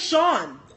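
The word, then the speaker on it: Shon: Spelling of Sean, but his name is fucking Sean. It was funnier in my brain. I'm gonna keep it like that. Oh, you thought I was just saying Sean?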